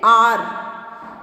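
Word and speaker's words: hour: जैसे एन आर, ये यहाँ है तो एच, लेकिन इसका जब हम उच्चारण करेंगे तो यह क्या हो रहा है, आर।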